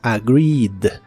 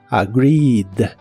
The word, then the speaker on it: agreed: ahora termina con d aquí tampoco se pronuncia ningún sonido e Así que es agreed agreed en el pasado la